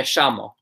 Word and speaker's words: llamo: But those countries will typically say sh. Okay, so like a thing like my name is me llamo. Me llamo. They'll write it the same way, me llamo, but they'll say me llamo.